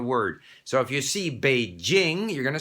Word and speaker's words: Beijing: number of people who want to pronounce beijing which is correct as beijing okay not to mention the